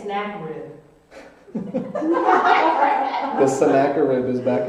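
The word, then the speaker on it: Sennacherib: r i b sakid I'm going to say snack rib the Saka rib is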